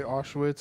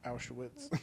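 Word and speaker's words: Auschwitz: gas chambers of aitz people say owitz or aitz I know that's why I don't really know how to say it but y'all know what I'm talking about obviously the German pronunciation is aitz oh well owitz then okay is up no I just that's like the correct pronunciation oh okay I don't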